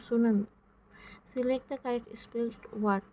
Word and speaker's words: tsunami: সুনামি বানানটা হচ্ছে TSUNAMI, তো সুনামি।